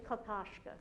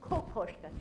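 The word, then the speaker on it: Kokoschka: the koska Capers from now on never say kakashka right promis it's koska he was Czech so his name is pronounced but Czech white koska yeah just way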